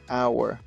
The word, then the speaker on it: hour: We can see that the H is not pronounced. No la estamos pronunciando. Entonces, en realidad comenzamos con our.